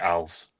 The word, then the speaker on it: Alves: on uh Instagram where they asked him how to pronounce the name pronounced it ALS. Oh there you go. So so Alves bless him.